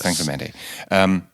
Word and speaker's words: San Clemente: So let us start in Orange County, California, or more accurate, San Clemente. That's how it is pronounced correctly, San right? Clemente, yes. San Clemente.